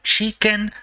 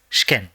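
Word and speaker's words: 試験: shken which means exam it is not she ken but has to be pronounced as shken next let me go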